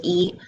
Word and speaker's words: 一: So 一 and 七 sound similar if you stand far away, so maybe people cannot hear it clear.